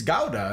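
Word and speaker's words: Gouda: the smoked guda which or GA is apparently the correct pronunciation because I lived in Germany and they're like it it's GAA and I was like No it's guda I think you guys are mistaken they're like GAA comes from Germany he he's found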